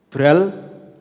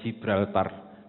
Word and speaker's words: Gibraltar: Gi atau Ji, kadang-kadang kita bacanya Gibraltar.